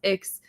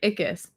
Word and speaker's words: Ickes: First of all, it's not pronounced Ix, it's pronounced the way he would say it is, yeah, it rhymes with it, like sickness, but with no ness, just like Ickes.